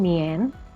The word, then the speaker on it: 年: Seandainya kita ada penanggalan seperti di gambar, yaitu tanggal 17 Agustus tahun 2020, maka kita menyebutnya sebagai 2020 Nien, ya.